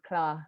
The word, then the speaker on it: KLA: And so a lot of our programming is designed around that, including our festival, which is actually pronounced KLA, which is short for Kampala, so KLA Art Festival, which is actually happening this August, hopefully.